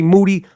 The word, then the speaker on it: Moody: But first, me and Moody, last name rhymes with duty, are going to do our thing.